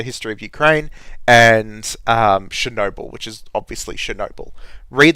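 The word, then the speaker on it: Chornobyl: you read the book Chernobyl or Chernobyl which is how you say it properly in Ukrainian um by Sergei py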